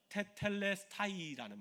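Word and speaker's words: τετέλεσται: 이루었다라는 말이 헬라오 원어로 보면 무슨 말인지 하면 테텔레스타이라는 말을 씁니다. 한번 따라해 볼까요? 테텔레스타이텔레스타이 발음도 너무 좋으세요.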